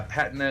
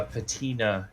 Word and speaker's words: patina: patina that bronze gets i believe it's pronounced patina but yeah i know what you're saying i've i mean there's one way to solve this and that's to the googles i was gonna say yeah google it okay so that's we're both right uh i'm just more familiar with the british pronunciation in there whereas i'm guessing mine is the more americanization yeah patna is british uh patina is american okay so we're both